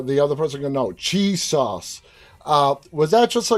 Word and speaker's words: Chisos: the middle of nowhere they just pronounce this cheese sauce well his name is piso c-h-i-s-o-s uh and that that